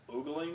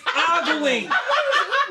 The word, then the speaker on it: ogling: Oogling them? It's ogling. It's ogling.